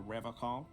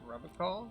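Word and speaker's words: Revachol: He pronounces Revocol with a hard K, unlike other people. Serious question time. This man is no innocent. No one is. You said Rubicol? I like to pronounce it the hard way. The old way. The Vespertine way.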